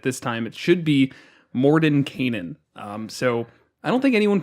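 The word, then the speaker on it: Mordenkainen: you corrected it this time it should be Morden Canaan so I don't think anyone pronounces that right no yeah we've always done Morton kind ins yeah I missed that there was at the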